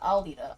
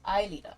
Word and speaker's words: Aelita: Not Alita. Aelita. Aelita from... Oh, it's spelled with an E in there.